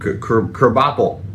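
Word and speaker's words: Krabappel: Uh and they had the what was the teacher that Kerbopel. Yeah. Which is spelled crab apple.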